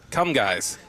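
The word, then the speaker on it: Comegys: Come guys. Jeez. It's c o m e g ys.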